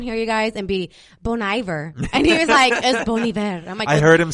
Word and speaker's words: Bon Iver: yeah come on here you guys and be bon iver I heard him say it at a live